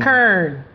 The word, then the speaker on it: Karen: Kern.